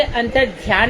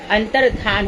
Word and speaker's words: अंतर्धान: Spelling पर ध्यान देंगे। अंतर् ध्यान नहीं होता। अंतर्धान होता है।